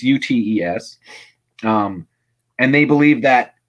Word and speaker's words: Ute: utis i don't know how to pronounce it it's u-t-e-s um and they believe